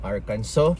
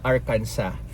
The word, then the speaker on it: Arkansas: sa proper pronunciation ng Arkanso. Kasi lagi po akong Arkanso ng Arkanso pero according to them is Arcansa.